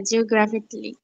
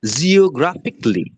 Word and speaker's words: geographically: কায়দায় উচ্চারণ করি, কিন্তু উচ্চারণটা হবে জিওগ্রাফিকলি।